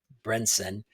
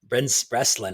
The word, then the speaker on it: Breslin: This one stars Arnold Schwarzenegger, Abigail Brenson, Breslin. I always pronounce her name wrong.